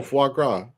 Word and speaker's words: foie gras: Oh, foie gras. It's yeah, so I said it right. Tim. Yeah, Tim. Do you know what foie gras is?